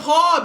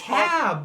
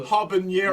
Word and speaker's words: habanero: Why do you say it hob? It's not H-O-B, it's hab. Habanero. We got a big glass of milk. Habanero. Like the N doesn't have an accent on it. It's not like pequeño.